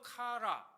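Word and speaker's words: קרע: 여기 찢다라고 하는 단어, 역시 발음할 때 어떻게 해요? 카라입니다. 아까도 카라 또는 카라 좀 길게 발음하는데 글자가 좀 다른 겁니다. 발음이 비슷할 뿐이죠.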